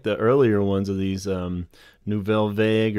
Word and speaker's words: Nouvelle Vague: earlier ones of these Nouvelle Vague or nouvelle vogue if you want to do more proper French pronunciation which I'm still butchering I'm sure but um they're cool